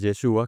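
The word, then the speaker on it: ישוע: Eh, Josué en hebreo es, o se dice, se escribe Yehoshua, que significa Jehová salva. Y Jesús en hebreo es Yeshua, que es el mismo Yehoshua, solo que lo abrevian un poco, que traduce también Jehová salva.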